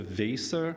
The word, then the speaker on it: Weser: They pronounce it the Weser River.